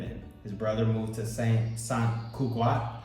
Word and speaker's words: Sant Cugat: His brother moved to San Cugat. How do you say it? San Cugat.